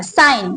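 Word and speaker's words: sign: के के very good अच्छा साइन एस आई जी एन शाबास साइन में कौन सा लेटर है जो साइलेंट है बोर्ड पर देखें एस आई जी एन जी ji excellent आपने बहुत अच्छा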